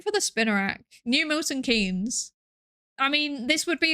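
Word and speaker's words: Milton Keynes: Why is it called Milton Kees? Is it named after a person? And if it's named after a person, why is it pronounced Kees? Because it's John Maynard Kanes.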